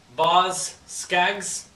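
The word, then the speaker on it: Boz Scaggs: ginger baker and rick gretch how do you pronounce this boss skags and band yes that's right these guys look like a lot of fun here's baz skyes ba boz skags silk degrees this is a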